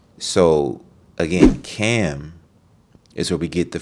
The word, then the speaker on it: Ham: So Ham also pronounced Cam. Okay, it's pronounced Cam.